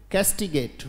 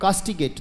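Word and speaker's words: castigate: बोले पहले बोले बोले कैस्टिगेट, बोलो शाबाश, कैस्टिगेट, कैस्टिगेट। उच्चारण में दिक्कत है तो हिंदी में लिख सकते हैं कैस्टिगेट और कास्टिगेट, दोनों उच्चारण है बेटा, कैस्टिगेट, कैस्टिगेट का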